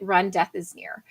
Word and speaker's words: remdesivir: term uh you know how do you remember to say it it you pronounce it run death is near and everyone attributes that